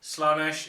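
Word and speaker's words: Slaanesh: nurgle easy to pronounce slanesh it's got an extra a so some people say slanesh some people say I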